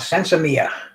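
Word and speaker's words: sinsemilla: Mexicans learned it, and it's called sensimilla, spelled with L's, but the L's are silent.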